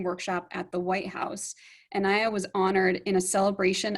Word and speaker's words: Nneya: Nneya, am I saying it right this time?